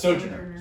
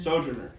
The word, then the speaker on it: Sojourner: Is that how it's pronounced? Sojourner. Sojourner. Yeah.